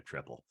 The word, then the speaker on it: Tripel: We found ourselves saying Tripel because one of our other Beervengers is the your friendly neighborhood Tripel man, and That's he right. insists on pronouncing it that way. So that got me trained to call it Tripel. But I think there's nothing wrong with calling it a triple.